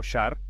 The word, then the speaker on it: sar: en el prisma original el sar pronunciado shar es la unidad de